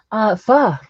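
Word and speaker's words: phở: It's a Vietnamese soup, and this is how you say it, pho.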